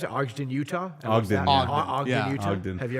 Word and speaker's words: Ogden: Is that how you pronounce it? Ogden, Utah? Ogden, Ogden, Utah.